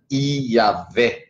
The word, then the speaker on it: Iavé: nesse nome sendo que a pronúncia do nome eterno de Deus leva sempre a pronúncia as consoantes desse maravilhoso alfabeto consonantal chamado hebraico e a pronúncia fica EA fé né é um picaria iavé o nome do pai vamos